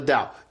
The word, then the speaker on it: Tao: So the Dow, DAO.